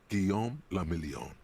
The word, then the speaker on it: Guillaume le Million: Guillaume le Million. Why French? Why are you French? If it doesn't rhyme, you're not pronouncing it right.